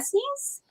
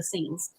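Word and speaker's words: Essenes: the bible right the the oh if i pronounce it right the sneeze oh i know i've heard of that before okay just corrected me he's like there were the scenes uh scenes yeah that's what yeshua really worked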